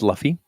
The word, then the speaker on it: Laufey: is luffy luffy summer it's pronounced luffy yes that depends on